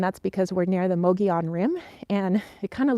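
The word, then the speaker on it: Mogollon: mountains here and that's because we're near the mogion rim and it kind of looks like Moga lawn Rim but it's pronounced mogion and what happens is the winds just kind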